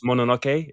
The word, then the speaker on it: Mononoke: Mononoke.